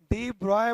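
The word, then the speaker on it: de Broglie: तो उसी समय एक साइंटिस्ट डी ब्रॉगली के द्वारा, डी ब्रॉय बोल सकते हो या डी ब्रॉगली स्पेलिंग जो है, तो डी ब्रॉगली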